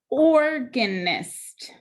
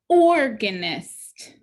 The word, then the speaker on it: organist: Organist. This time, the first syllable is accented. Organist.